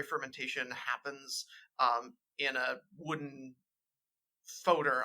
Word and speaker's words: foeder: happens in a wooden foeder. I guess that's how we're pronouncing it, Huck. Is that how we decided? I think we're saying foeder, yeah.